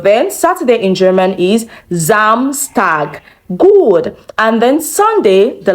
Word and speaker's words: Samstag: Samstag. Samstag. Now we have two S in this word. One sound Z and the other one sound S.